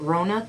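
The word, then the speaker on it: Wrona: And the one at, how do you pronounce it, Rona, W-R-O-N-A, Rona Brothers? Yeah, Rona Brothers.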